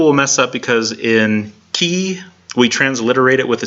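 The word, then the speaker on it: chi: Now, some people will mess up because in key we transliterate it with a CH, it's CHE, except we don't pronounce the H.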